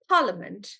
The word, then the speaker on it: Parliament: and uh Parliament so for Parliament we'll consider it as parment like that even though there's an a we'll consider them as One V sound and we'll just do Parliament like that preparation so preper Ray